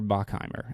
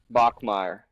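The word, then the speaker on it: Bachmeier: Bear Bachimr at BYU. Bachmeire. Bachmeire. That's what I meant. I just I just He's like Hank Hank Bachmeire. Yeah, I just said it wrong.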